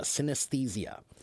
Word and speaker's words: synesthesia: Uh, so it's pronounced sinthesia. Sinthesia. Synesthesia.